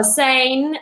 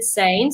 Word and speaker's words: Sijnn: But yeah, Sijnn, that's how I pronounce it, Sijnn. So I think my name on the tag is Insane.